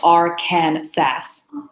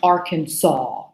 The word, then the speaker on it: Arkansas: does not look anything kind pronouncing it because it's spelled our kin sass but actually it's pronounced Arkansas yeah imagine if it was Sawa at the